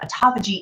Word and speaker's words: autophagy: And autophagy is spelled like autophagy, like auto and then Phaghy. So autophagy, that's how you vernacularly pronounce it. Autophagy is the healing part.